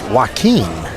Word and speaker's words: Joakim: Joakim Joakim Now, some dude told me the name was Wakim. No. I know, but he said the J is a W.